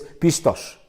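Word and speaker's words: πιστός: Significa fiel, fieles, creen, seguro, y se pronuncia o se lee o se fonéticamente en el griego es pistos, pistos.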